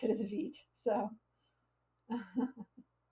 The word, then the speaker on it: Vite: good job guys uh kaput says you said Veet I always thought it was bait learn something every day oh thank you for